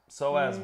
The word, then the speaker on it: psoas: PSOAS. Oh, PSOAS. That's psoas. a It's not SOAS is how you might spell it out.